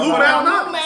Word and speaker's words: Lou Malnati's: I say Lou It's Lou Malnati's. Malnati's. Some people pronounce every letter and word in it.